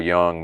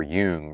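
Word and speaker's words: Jung: Well, maybe it's the subconscious unseen symbolic level of, you know, Carl Young, man and his symbols or Yung, however we're pronouncing it.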